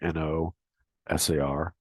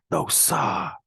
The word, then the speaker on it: no sir: derivation of it, but I'm just guessing it's no sir, like NOSAR, used in the place of no way. And they're just somehow the pronunciation of sir is sa. So it's evolved, I think, into no sa.